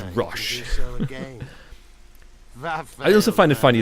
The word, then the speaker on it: Roche: and I know are pronouncing Roche as rush I also find it